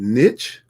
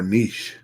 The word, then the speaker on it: niche: Is it niche or niche? Niche or niche? So I looked it up. Both of them are correct. Both of them are correct. Predominantly in the US, we use niche, rhyming with pitch. But niche is actually French. So Brother Juan's going to use niche because it sounds more proper, being French.